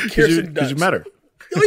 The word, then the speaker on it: Kirsten Dunst: And it's crazy, like, say like Kirsten Dunst. Because you met her. Oh, yeah, she's dope. Now, like Kirsten Dunst, I was calling her Kristen Dunst for ever.